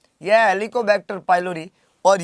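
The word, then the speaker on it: Helicobacter: हेलिकोबैक्टर बोल रहे हैं हम, ये लिखा हुआ वही है, हेलीकॉप्टर नहीं है।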